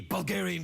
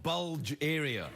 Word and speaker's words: Bulgaria: By the way, it's pronounced Bulgaria, not Bulge area.